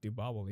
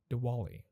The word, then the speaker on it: Diwali: is coming next week wait why did i just say diva like so americanized man that is that oh my god that hurts okay i'm gonna say it properly one more time diwali oh no i did